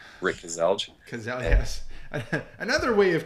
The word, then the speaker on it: Kaselj: name there you go how do you say your name it's Cassel Rick Cassel that's the English way of saying it Cassel one syllable just you see all the letters Cassel that's not one syllable Cassel that's not one syllable that's two c okay two syllables okay I learned something new today C okay two syllables to say all the letters there you go so